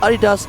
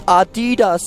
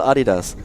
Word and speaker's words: Adidas: no it's not pronounced Adidas it's Adidas and it's American no it's not it's German and it's still Adidas there you go well